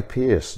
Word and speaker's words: Peerce: Larry Pierce directed this film. His last name is spelled Perce.